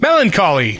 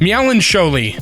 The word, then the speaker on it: melancholy: time without realizing it Melancholy I used to pronounce it meow and sholey what Billy Bob Jimmy Joe